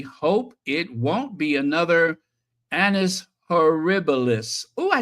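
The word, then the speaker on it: annus horribilis: year we fervently hope it won't be another Anis herbalis oh I said it right that time Anis herbalis I cannot believe I said that right maybe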